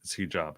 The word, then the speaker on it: Hijab: I keep calling him Hijab, but it's Hijab.